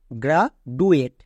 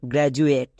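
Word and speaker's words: graduate: vowel next গ্রাজুয়েট গ্রাজুয়েট একে অনেকে ভুল উচ্চারণ করে একে উচ্চারণ করে গ্রা ডুয়েট ডুয়েট কিন্তু এটা সম্পূর্ণ ভুল কারণ এখানে ডি এর জন্য জো উচ্চারণ হবে কারণ ডি এর দুপাশে দুটোই ভাওয়েল এ এবং ইউ দুটোই ভাওয়েল থাকার জন্য ডি এর জন্য কি হবে জো হবে তাহলে এর উচ্চারণটা দাঁড়াবে গ্রাজুয়েট গ্রাজুয়েট এখানে দেখো ডি এর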